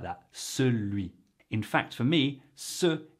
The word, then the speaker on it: celui: You can say it celui and it's perfectly fine. But I just want you to be aware of it for when you're hearing it, so you can actually comprehend and adequately respond. Celui.